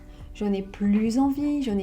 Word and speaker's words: plus: On ne prononce pas le S quand plus exprime l'idée de la négation.